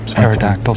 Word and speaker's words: pterodactyl: These are all words that begin with P without pronouncing the P. They Fennig. Are words that begin with a silent P.